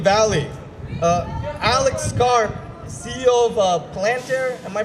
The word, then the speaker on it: Palantir: Alex Karp, CEO of Palantir, am I pronouncing that right? Palantir?